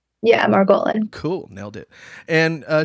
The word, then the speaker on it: Margolin: doubl do talk show today we have margan am I pronouncing that right yeah Maran cool nailed it and uh she has been